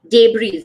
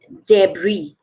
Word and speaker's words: debris: Wednesday Wednesday okay now this is what you would think it is yes deze right but it is not so it is debris debris okay now this one